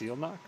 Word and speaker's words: Zylnak: Zylnak is pronounced Zealnak. Strange way of spelling Zealnak.